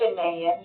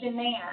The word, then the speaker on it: Janaean: Janaean. Janaean. It Okay. rhymes with Japan.